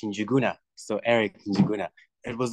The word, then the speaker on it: Njuguna: Yeah, my name is pronounced Njuguna.